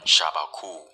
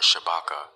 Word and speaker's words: Shabaka: You'll be hearing me pronounce this African king's name as either Shabaku or Shabaka, as there are different spellings of his name throughout the sources, so please bear with me.